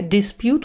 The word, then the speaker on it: dispute: мои в ходу слово dispute может быть чуть реже используется но оно в официальном английском встречают довольно-таки часто обращаем внимание Кстати на ударение dispute ударение идёт на you на этом думаю друзья